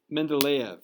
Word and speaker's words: Mendeleev: a russian guy whose name was dmitry um mendeleev is how you pronounce it so let's pull let's pull up